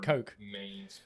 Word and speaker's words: Koch: So, but no, but Colin, that's how you're meant to pronounce Koch Media. Those games in that way, Coke.